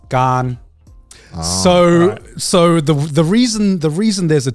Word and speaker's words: Garnt: So the Thai pronunciation of my name is Gan.